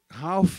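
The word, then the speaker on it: Ralph: terminando o doutoramento dele Ralf é como se escreve r a l p h Ralf né e Tyler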